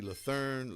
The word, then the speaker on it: Lathern: My man Rodney, how do you pronounce that? Rodney Lethern Learn.